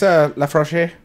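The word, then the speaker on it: Laphroaig: I just call it Lap Frog. I think it's La Frog is Oh. the correct pronunciation. It's La Froche.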